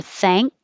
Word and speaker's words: thank: this is interesting that when you have an n k combination you actually have an n g k because your tongue goes up to the ng place eng and then you're going to end it with a k for thank you don't have to